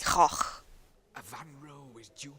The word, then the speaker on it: Van Gogh: So, in Britain we say Goch, typically, but I know it's more like Goch.